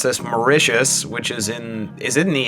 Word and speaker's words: Mauritius: From, I just had to be told how to pronounce this, Mauritius, which is it in the Indian Ocean?